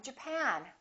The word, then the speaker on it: Japan: at the next one did you say Japan or Japan in this case it's the second syllable I'm from Japan I'm from Japan let's